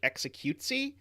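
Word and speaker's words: executie: dutch mole and so the dutch word for execution is pronounced something that sounds like executesy uh which uh always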